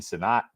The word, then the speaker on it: Senat: Goddard, Freiermuth, and Senat. Or Senate, I guess. Senate is how you pronounce it.